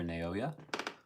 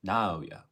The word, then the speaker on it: Naoya: Thank you for being here, Naoya. No wait, I said that wrong. Naoya. There we go. I said, now I'm saying it right.